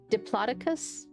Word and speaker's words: Diplodocus: So here is Diplodocus. Diploticus I think I've heard it pronounced Diploticus as well. Diploticus. Yes. That's probably the more correct.